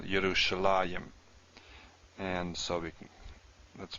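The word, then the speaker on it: ירושלים: There's a few cases we do see a yud here, but it's pronounced still Yerushalayim.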